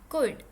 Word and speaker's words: could: में हम सीखेंगे मॉडल वर्ब का एक वर्ब कुड। इसमें एल साइलेंट है, कुड।